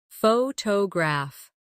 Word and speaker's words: photograph: Photograph. Now, photographer. Notice how the stress changes when the word becomes longer.